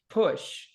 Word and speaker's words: push: Yeah, you're right. It's push. All right, so not push, like bush, right? It's like bush.